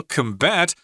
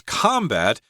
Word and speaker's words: combat: Here, combat as a verb means you have to stress the second syllable, combat, although sometimes people may pronounce combat as both the noun